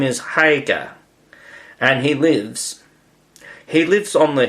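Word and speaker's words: Haigha: His name is Hagar. He pronounced it so as to rhyme with mare.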